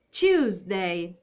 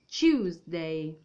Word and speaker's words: Tuesday: abbiamo martedì e abbiamo si dice tuesdey quindi c dei ricordatevi che è l'ati va detta proprio quindi tuesday tuesday quindi fate finta mettete la bocca a forma di bacio tuesday quindi lo spelling e